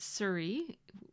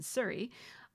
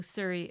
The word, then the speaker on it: Souris: going to call it Souris, which is, well, in French, it's the word for mouse, and it's actually pronounced more like souris.